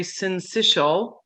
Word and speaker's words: syncytial: we also have respiratory syncytial pronounced like initial respiratory syncytial virus or